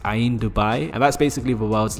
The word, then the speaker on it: Ain Dubai: I think it's called Ain. I'm butchering a bunch of names here. I'm sorry, but I'm pretty sure it's pronounced Ain Dubai.